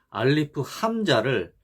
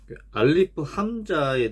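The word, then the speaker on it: أ: 발음 기호는 아인데 요 알리프 함자에서 음가를 가지고 있는 것은 여기 함자입니다. 알리프는 단지 함자의 받침으로만 사용된 거고 음가를 가지고 있지는 않습니다.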